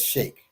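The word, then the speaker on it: sheikh: with the sea but that's that's that's shake you know like the shakes in arabia right right right fun fact i've known that that name since i was 16 and never pronounced it because i knew it did everybody say sheik right uh there's a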